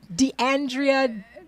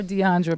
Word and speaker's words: DeAndrea: DeAndrea. That's it. Because you were Giselle. calling her Deandra, but it's DeAndrea Giselle.